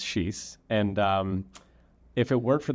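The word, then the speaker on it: xis: And is X actually pronounced sheesh in Portuguese, like I saw someone claim on YouTube? It is absolutely pronounced sheesh.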